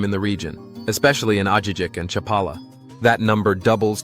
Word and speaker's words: Ajijic: The region is home to a group of charming lakeside towns, the most famous of which is Ajijic, pronounced Ajijic, along with Chapala, San Antonio Tlayacapan, and Jocotepec.